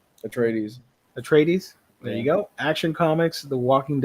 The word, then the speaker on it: Atreides: dune house uh how do you say this a tradis atreides atreides there you go action comics the walking dead